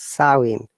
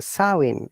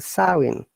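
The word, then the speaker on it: Samhain: a gallic what pronounced saoin look i i say according to the english pronunciation but in gaelic it is pronounced the sowing m is you know silent the sowing okay dear viewers okay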